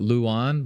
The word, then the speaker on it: Luan: So like like Lu to pronounce it Luan Luan.